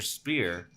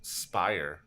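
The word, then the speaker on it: Spier: tell goddamn Maran about it about it Mr spear though though it's pronounced Spire oh say that in there s p i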